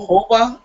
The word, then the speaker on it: jojoba: Jojo Ba, whatever it is. Jojoba? Okay. Sherry Ann is putting H's on it. So yeah, It's jojoba. I think. Jojoba?